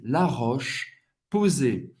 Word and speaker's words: La Roche-Posay: La Roche-Posay. Roche, C-H tem o som do sh. Sh. La Roche, não vai pronunciar o E.